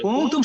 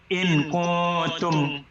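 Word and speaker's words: كنتم: কুনতুম যেখানে আসবে ওই নুনটা আপনাকে ইখফা করতেই হবে এভরিওয়্যার ইন দ্য কোরআন।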